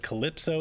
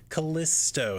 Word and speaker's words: Callisto: it incorrectly last time I think it said Calypso it is Kalisto that's the name of the Moon and we have some